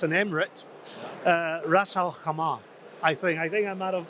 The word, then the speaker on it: Ras Al Khaimah: Ras Al Khaimah. I think I might have. Hopefully, I did them right. They taught me how to say it yesterday. Ras Al Khaimah.